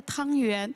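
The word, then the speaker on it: 汤圆: Chez nous, voilà, les plus courants, c'est la boulette du riz sucré, on l'appelle tang yuan. Justement, la prononciation rapproche de tuan yuan.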